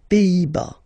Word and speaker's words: Pays-Bas: Final S here, not pronounced. Same thing here. Pays, pays, and then bas. Les Pays-Bas.